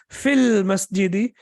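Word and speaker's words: في المسجد: Similarly, we have al-masjidu, and al-masjidu, as we know, the masjid. And when you say fi, and then after that al-masjidi, and when you pronounce it as a complete construction, you will say fil masjidi, in the masjid, then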